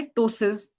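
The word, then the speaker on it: ptosis: इसका इस कंडीशन का नाम होता है टोसेस। तो टी से शुरू नहीं होता। इसके आगे एक पी होता है जो साइलेंट होता है। पी टी ओ एस आई एस इसको टोसिस बोला जाता है और कॉमनली बच्चों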